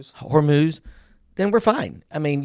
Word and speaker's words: Hormuz: start, you know, going through the straight of hum, how do you say that? Hormuz. Hormuz, then we're fine.